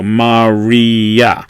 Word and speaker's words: Maria: go in order alright they're pronounced separately so you might remember Maria when we talked about I versus J or vowel versus constant so these are two vinyls in order this I a right but because they are not a diphthong they're not on this list they were just pronounced separately so Marya and as I said